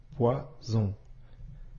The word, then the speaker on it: poison: maintenant quelques exemples poison ici on voit bien la lettre S qui se trouve entre deux voyelles la lettre I et la lettre O ici la lettre S se prononce bien comme le son ze poison maintenant pose-toi la question